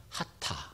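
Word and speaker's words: חטא: 관 역인데 이관형 에서 빗나간 것을 죄라고 말합니다 발음은 하타 라고 발음합니다 그러면 똑같잖아요 지금 하나님의 길에서 벗어난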